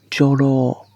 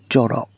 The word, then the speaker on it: Jorō: The spider's name actually has an elongated last syllable. Jorō, not Joro.